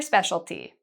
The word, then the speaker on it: specialty: What's your specialty?